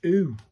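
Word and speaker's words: う: This is u as in pronounced like the oo in zoo. So this is oo.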